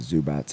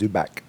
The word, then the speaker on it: Zubac: Swinging at a lot of Zubats. All right, I'm done. Yeah. Is it pronounced with like a T or is it pronounced Zubac?